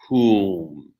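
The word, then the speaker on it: hūṃ: because it's onomatopoetic, but the word hum in English is the exact same spelling as the mantra whom, though a slightly different pronunciation, because the vowel in the mantra is oo, whom.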